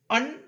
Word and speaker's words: un: इन the name of the element each root is pronounced separately such as the root un should get pronounced with a long u.